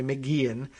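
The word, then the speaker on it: McGeachin: races governor little and estranged lieutenant governor janice mcgeehan i learned later on uh in here that it's pronounced mcgee and pronounced or spelled mcgeechen but it's pronounced apparently mcgean who's challenging him for the top job weren't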